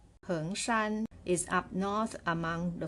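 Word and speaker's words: 恒山: It is called Mao Heng or Hengshan. It pronounced as the word Hengshan, which is the southern mountain among 5 great mountains of China. But this Heng has a different character. It's pronounced the same way.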